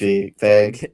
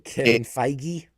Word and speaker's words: Feige: Um Keith Ed Feig. K- Kevin Feige?